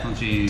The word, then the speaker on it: Tonchin: Yeah, Tonchin.